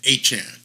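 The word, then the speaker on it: Achane: came out and said we all were saying it wrong we were all saying a Chan he came out and corrected everybody and said from here on out I want to be known as achan a Chan like Jackie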